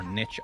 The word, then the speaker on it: niche: holy locket being a very niche or niche item depending on what way you want to pronounce it cinderella okay some items